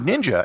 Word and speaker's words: ninja: a person who hides the word ninja actually came from a Chinese pronunciation of the Japanese kanja characters which make Shinobi for the rest